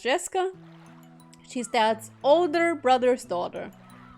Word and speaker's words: Jessica: Anyway, Jessica is pronounced Jessica.